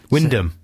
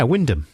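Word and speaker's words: Wymondham: at work in wondom Windom no it's not spelled like that yeah but sometimes things are spelled in a different way to the pronunciation fourth one down won yeah Windam that's in Norfolk that's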